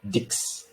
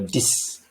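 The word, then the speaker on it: dix: slide all right so numbers 6 and 10 are not pronounced as six or dicks but rather like s-i-s or d-i-s so which would be cis or this okay and then you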